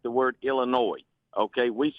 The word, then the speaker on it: Illinois: It's kind of like the word Illinois. Okay. We say Illinois is like franglay. It's not really French. It's not really English. If we were going to pronounce it in French, it would be illinois.